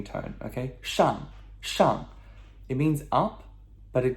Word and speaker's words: 上: 上, okay? 上. S-H-A-N-G, fourth tone, descending tone, okay? 上.